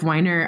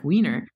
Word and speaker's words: Weiner: photo come out was jeff winer actually is that how you say it by the way or is it wiener weiner it's weiner okay jeff weiner he took a photo